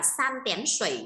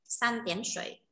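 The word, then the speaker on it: 三点水: Cái bộ ba chấm thủy đấy thì nên đọc bộ ba chấm thủy sẽ đọc là san tén sủy nhá, san tén sủy.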